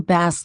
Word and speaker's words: bass: will read where do base live. Uh-oh. The text to speech pronounced bass wrong.